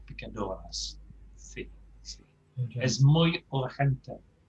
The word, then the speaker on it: urgente: Well, it's very close to the English, but we have to pronounce it slightly differently, don't we? Muy urgent. Urgente.